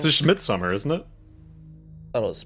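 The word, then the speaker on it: Midsommar: the title it's just Midsummer isn't it thought it was pronounced you could be fancy and say midmar Omar mid yeah it's just Midsummer yes I think you mispronounced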